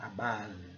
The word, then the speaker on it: above: Teoricamente seria above, né? Porque o O tem o som de O, mas não é, é above, above. Esse som aqui, né, esse som assim, parecendo um A, né, sem o corte aqui. Above, é um som assim, um pouco fundo da garganta.